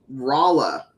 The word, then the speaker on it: Rolla: There is also near Fort Leonard Wood and Rolla. By the way, yes, that's how it's pronounced.